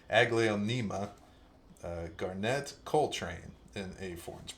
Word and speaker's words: Aglaonema: 4-inch Alocasia Black Velvet, and okay, I totally screwed up the pronunciation of this last time, so let me get this right. An Aglaonema, I think I was calling it Aglaomena or something like that. Aglaonema Garnet Coltrane in a 4-inch pot.